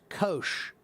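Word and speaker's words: Kocs: And that is pronounced kosh. That city is pronounced kosh.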